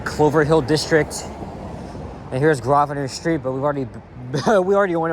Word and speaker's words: Grosvenor: I think we were in the Bay Clover Hill district, and here's Grosvenor Street, but we already went over the pronunciation. The S is silent.